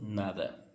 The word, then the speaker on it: nada: Gente, curiosidade que esse D em algumas regiões, em alguns países, é como se você não pronunciasse ele. Por exemplo, eu posso ler nada, mas também posso ler nada, sim? Nada. Por exemplo, querer comer? Não, nada. Então, o D pode acontecer isso. E particularmente eu acho muito bonito quem pronuncia esse D um pouco mudo.